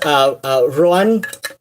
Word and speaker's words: Ruadhán: And, like, I don't know, like, even in person, like, yes, it's properly pronounced, Ruadhán, or, I know a lot of people put a bit more emphasis on the second syllable, which I did not